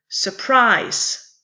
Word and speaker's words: surprise: The word surprise is different from constant. It's only two syllables. It has three vocals, but it only has two vocal sounds, being two syllables. And the syllables, the first syllable of the word is unstressed, followed by a stressed syllable.